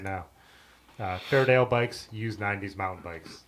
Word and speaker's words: Fairdale: Otis yep there he said it right now Fairdale bikes use 90s mountain bikes those are the